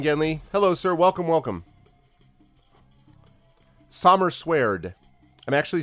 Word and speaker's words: Sommerswerd: But it's Sommerswerd that I'm thinking about. That's how it's pronounced. That's how it's spelled too.